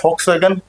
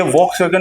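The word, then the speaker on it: Volkswagen: आप बोल सकते हो हम भाषा में, लेकिन इसका ये अर्थ है, इसको फ पढ़ते हैं, ये वॉक्सवैगन नहीं होता, ये फ होता है, फ फल वाला, वॉक्सवैगन, ये होता है BMW, वे, सही उच्चारण, ठीक है।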